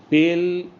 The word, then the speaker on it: pleut: দাঁড়াচ্ছে সেইটা হচ্ছে যে পেল, এরকম আর কি, পেল ইন his green bed wire the light is raining, যেখানে আলোর বৃষ্টি পড়ছে, যেখানে আলো ঝরে ঝরে পড়ছে। অ্যাকচুয়ালি এই যে PLEUT উচ্চারণ পু, এর মানে হচ্ছে রেনিং,